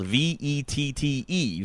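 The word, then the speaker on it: Vette!: First and foremost, I will say that this game is spelled V-E-T-T-E, vet as in short for Corvette.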